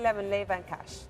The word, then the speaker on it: LeiVanKash: maximizer M light Pearl serum milon Lea Le van cash did I say it right yes you did